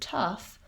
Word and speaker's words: tough: totally different sounds so in the word tough we have the a schwa vowel and the gh says f so you could write it as t-u-f or t-u-f-f and that will probably help you pronounce the word tough correctly so no wonder people